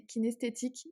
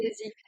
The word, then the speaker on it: kinesthésique: crois que ça c'est pour le toucher, c'est kinesthétique et à chaque fois j'ai toujours du mal, j'ai peur de mal prononcer. Kinesthésique, ouais.